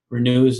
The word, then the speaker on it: Renue: can certainly go to our website which is renew systems comm we're new is spelled our and Yui so that's our e